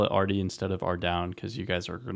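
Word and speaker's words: Ardougne: I should probably call it Ardy instead of Ardown because you guys are going to really hate how I pronounce it probably. But Ardoon, Ardy, yeah.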